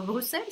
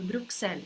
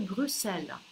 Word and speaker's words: Брюссель: Я хотела это показать вам, потому что здесь X необычно читается Брюссель. Есть те люди, я таких ни разу в жизни лично не видела, но говорят, что такие есть, которые прочитают как Брюксель, и это будет тоже не ошибка.